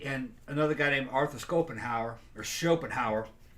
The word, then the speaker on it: Schopenhauer: Okay, and Friedrich Nietzsche and another guy named Arthur Schopenhauer, depends on how you want to pronounce it. I heard Schopenhauer, but some people say Schopenhauer.